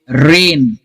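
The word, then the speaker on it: rain: example से हम समझेंगे रेन रेन अब रेन में लेटर्स चार है आर ए आई एन लेकिन साउंड तीन है आर ए एन रेन रेन ठीक है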